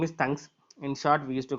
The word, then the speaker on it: thunks: The other name for call by name is thunks. In short, we used to call it as thunks. The call by name would be otherwise, which is going to be called as thunks.